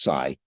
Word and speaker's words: psi: a Greek letter Sai it's spelled PSI but pronounced Sai it stands for psychic